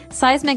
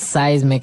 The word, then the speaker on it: seismic: And so seismic activity refers to earthquakes and volcanoes, things that are changing under the ground that will affect us. Okay. So that's seismic activity. It's pronounced seismic, right? Seismic, that's correct.